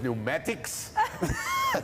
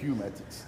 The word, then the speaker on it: pneumatics: It is, because it's that PN thing. The PN threw me out. Like Dougal. elephant, PH. Exactly. You know what I mean? You get pneumatics. Oh, pneumatics.